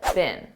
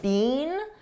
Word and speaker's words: been: Notice I said bin bin, a very unstressed bin. This is how we pronounce the past participle of the verb be bin in American English.